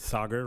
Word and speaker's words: Sagar: My name is Sagar, rhymes with lager, to help some of you pronounce it.